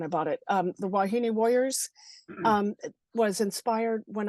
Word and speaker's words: wahine: Hawaiian Hawaiian they language they pronounce every vowel so it's yeah so so how so how do you pronounce it wahini wahini where and it